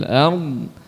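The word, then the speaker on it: الأرض: Nah, wa ma fil ardh ini berhenti pengucapan lisan kita pada huruf dhad. Jangan sampai berhentinya pada huruf ra. Itu tidak tepat ya.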